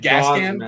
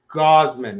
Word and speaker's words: Gausman: Is it Gascan? Kevin Gascan? Gausman. It's like a gauze pad.